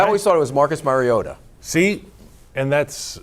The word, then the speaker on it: Mariota: It's Mariota. Mariota. Mariota. Not Mariota.